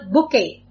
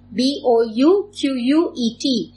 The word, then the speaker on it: bouquet: a bunch of plants a very common word bouquet b-o-u-q-u-e-t please note down the spellings of this b-o-u-q-u-e-t